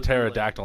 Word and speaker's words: pterodactyl: why why does that why does the pterodactyl not make a sound when it goes to the bathroom because because the p is silent you need a psychic